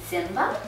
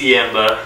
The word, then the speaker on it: Ziemba: So now that Zimba? Yeah! Yes, did I pronounce it correctly? No, but I like that. I figured. It's a Ziemba. Ziemba, okay. Yeah.